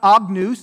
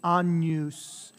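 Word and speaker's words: Agnus: amen so day e right day e two syllables dei e patrice amen de patrice amen it says not agnes it's onus that n a that sound right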